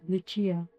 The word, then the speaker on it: Lucia: He liked my name pronounced with an Italian Luchia.